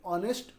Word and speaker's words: honest: We don't pronounce H. We pronounce from O. Honorable, honest, hour.